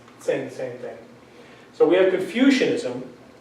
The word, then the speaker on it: Confucianism: So we have Confucianism, not confusionism but Confucianism.